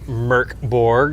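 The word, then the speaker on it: Mörk Borg: Merkborg and it is pronounced Merkborg.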